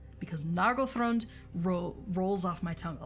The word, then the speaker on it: Nargothrond: I struggle to say Nargothrond instead of Nargothrond, because Nargothrond rolls off my tongue a lot easier.